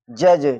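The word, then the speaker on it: judge: जी से पहले डी आ रहा है और हो जाएगा जज।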